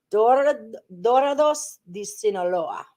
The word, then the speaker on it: Dorados de Sinaloa: Dorados de Sinaloa.